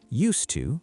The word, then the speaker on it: used to: Emma, do I pronounce them differently? Used to versus used to. Surprisingly, no. In both cases, we say used to. The S sounds like a snake, S, not a buzz, Z, and the D is silent.